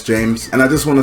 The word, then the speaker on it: Jeymes: It's spelled with a Y. It kind of looks like JEYMES, but I know it's James.